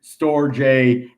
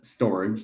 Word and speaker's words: Storj: what this crypto does store j or pronounced as storage see i always call it storej even though i know it's called storage is an open source